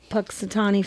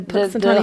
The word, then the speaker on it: Punxsutawney: And even in the States, we created the holiday Groundhog Day to say, is Punxsutawney Phil, I think I'm saying it right.